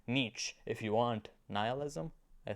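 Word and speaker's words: Nietzsche: bit of nich nich yeah that's how you pronounce the name nich if you want nihilism I think God is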